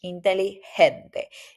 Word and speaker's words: inteligente: When you have a G, mostly the pronunciation is like an H in English. Inteligente, inteligente, right?